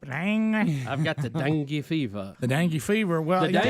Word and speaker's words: dengue: It is the dengue fever. I don't think it's dung. Well, we don't get that. Listen to how it's pronounced.